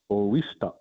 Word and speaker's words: oista: And here our word for money is pronounced oista.